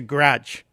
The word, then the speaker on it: garage: it garage it's a grudge Greg it's it's like a one-syllable word word Grudge you're having